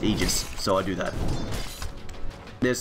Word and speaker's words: Aegis: So as it turns out despite the fact I may think that Aegis sounds cooler correct way is to pronounce Aegis.